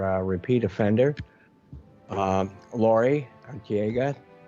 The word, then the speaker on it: Arteaga: uh guest our uh repeat offender uh lori antiega pronouncing your last name kind of correct no yes